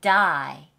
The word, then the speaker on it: die: 건요 자 참 이게요 애매 다이가 아니야 다 그냥 다이 그래서 외국인처럼 발음이 안 해요 he 다가 아니야 he die he die 다 아이에요 그게 참 미묘한 차인데 여러분 이거 발음을 똑같이 듣고 따라하지 않으려면 그냥 읽고 다이 다이 아니요 die he died 이렇게 말해요 자 그다음에는